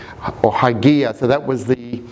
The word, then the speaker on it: Hygieia: So those 5 angles were ascribed 5 letters of the Greek, and it's spelt Hygieia. or Hygieia.